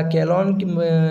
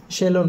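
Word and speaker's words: Chelone: पुन्हा अ याला काय सी एच इ एल ओ इ एन आहे अशी स्पेलिंग आहे याला केलोन केलॉन पण म्हणतात किंवा शेलोन पण म्हणतात ओके हे म्हणजे काय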